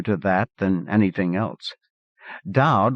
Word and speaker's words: Dowd: Dowd was not quite Dawd, not quite Dode.